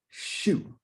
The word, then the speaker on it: shu: ancient chemit the word for breath is called shoe she was spelled s h u and so even pronounce the word it's like it's like shoot